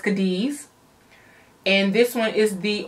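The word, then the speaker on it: Cádiz: I believe it's pronounced Cadiz.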